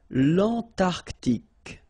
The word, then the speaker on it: l'Antarctique: Remember, Q-U-E here, it's K, okay, so tic. L'Antarctique, l'Antarctique.